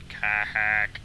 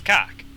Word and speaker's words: Kha'ak: Um, and yeah I am going to pronounce it like that. I'm not going to pronounce it ka-hak, because that's just...it's Cock. Okay? I don't care what anyone else says, it's cock.